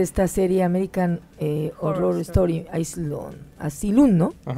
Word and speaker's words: Asylum: serie American Horror Story, Asylum, ¿no? Ajá. ¿Pero es Asylum? ¿Se pronuncia? No, es Asylum, como Asylum.